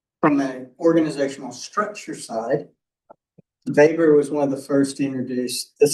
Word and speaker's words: Weber: German guy named Max Weber. Germans like to pronounce their W's with V's. Max Weber, lawyer and economist.